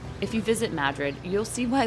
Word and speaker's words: Madrid: is the town of Madrid spelled like Madrid Spain but pronounced here as Madrid if you visit Madrid you'll see why locals decided to say it a little differently because in Madrid everything